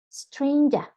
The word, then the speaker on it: stranger: And stranger, that not rhyme with anger.